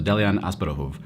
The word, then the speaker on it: Delian Asparouhov: I've been working on his Bulgarian pronunciation, so Delian Asparouhov, and he's working at Varda Space Technologies.